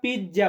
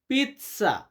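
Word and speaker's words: pizza: আমরা পিজ্জা বলি। এটার ইতালিয়ান হচ্ছে পিতসা। পিত সামনটা উচ্চারণ হয় বা আমরা যখন বাক্য বলি লা পিতসা।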